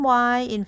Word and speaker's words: 医: The word "yi" has only vowel sound, which is the letter I, pronounced as E sound.